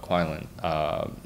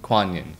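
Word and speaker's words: Kuan Yin: The amount of times that she asks questions that you were saying with Ian and Kuan-Lin. Did I pronounce that right? Kuan-Yin? Kuan-Yin.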